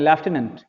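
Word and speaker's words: lieutenant: के भी एक लेफ्टिनेंट लेफ्टिनेंट मतलब इसको पढ़ेंगे हम लोग, प्रोनाउंसिएशन करते हैं लेफ्टिनेंट, लेफ्टिनेंट बोलेंगे। और देखो स्पेलिंग इसकी थोड़ी कठिन है, याद कर लेना। ऐसे ढेरों शब्द अंग्रेजी के होते हैं, स्पेलिंग कुछ और होता है, पढ़ते कुछ और है। इसका करेक्ट प्रोनाउंसिएशन है लेफ्टिनेंट।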